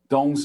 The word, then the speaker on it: Tung: research Association and yes Don is the way you pronounce t-u-n-g tongue right it is not master tongue right it is Master dong okay or Master tongue uh I don't know how how other people pronounce it but it should be dong opinion is don't okay and it is not tone because t-o-n-g would be wrong like the blue poppy